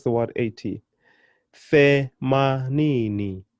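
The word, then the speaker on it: themanini: Femanini, femanini. And of course, I'm still putting my emphasis on the second to the last syllable, ni.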